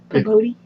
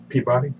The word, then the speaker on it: Peabody: Is that how it's spelled in the book? Pabodi? Peabody.